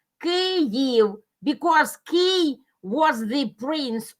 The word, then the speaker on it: Kyiv: till the latest time, they use the Russian variant of pronunciation, transliteration from Russian, Kyiv. But in Ukrainian, it is Kyiv because Kyiv was the prince of that place and the city belonged to him.